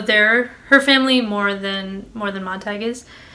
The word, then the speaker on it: Montag: her family more than Montag is. So they do pronounce it Montag in the movie. I've heard it both ways, but Montag is how I'm going to say it from now on. So the parlor walls, they